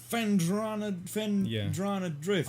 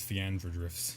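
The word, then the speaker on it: Phendrana Drifts: Holy Fendrana Drift. I used to pronounce this as Fiandra Drifts.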